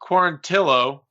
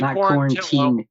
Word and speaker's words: Quarantillo: Billy Quarantillo, got to say it right. He made a point out of it. Billy Quarantillo. Tio. It's Tillo. Yeah. Quarantillo.